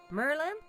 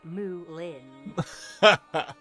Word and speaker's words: Moulin: Merlin? No, Merlin. Merlin. There's an O in there. Moulin? You haven't. have you? Bolin. No, darling. No, Moulin.